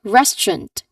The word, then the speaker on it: restaurant: So remember there are two syllables here. Restaurant.